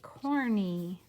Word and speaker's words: corny: In a two-syllable word, what says E? It's that Y, corny.